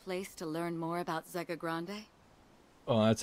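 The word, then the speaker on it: Zegagrande: Doesn't that sound like the perfect place to learn more about Zega Grande? Oh, that's how you pronounce it.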